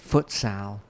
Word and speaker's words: futsal: something like south america footsal is that how you say it yeah footsall the little smaller ball yeah